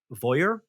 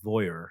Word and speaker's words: Voir: its newest form called I think it's pronounced Voyeur. It's VOIR.